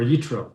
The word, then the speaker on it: Yitro: So tonight's class, we're going to talk about Tu B'Shvat and about the parsha, which is Parshas Yisro, or Yitro, depending how you pronounce it, or Jethro, if you go for some English.